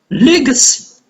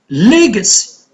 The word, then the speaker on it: legacy: Legacy. Legacy. See? So stress is on two syllables before, it's on the first syllable.